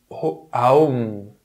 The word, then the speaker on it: Aum: C'est pour ça que la plupart des mantras débutent par ce son Om, mais Aum, d'ailleurs c'est Aum, en lui-même est un mantra.